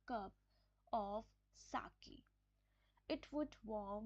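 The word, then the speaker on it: sake: आई कप ऑफ साके आप इसको सेक नहीं बोल सकते इसको साके बोलेंगे साके पॉपुलर जापनीज ड्रिंक ये जापनीज ड्रिंक है सा की इसको प्रोनाउंस कैसे करेंगे इसका इसको प्रंस कैसे किया इसमें सा सा जैसे हम फा फादर फादर फादर तो वैसे सा ठीक है तो ये साके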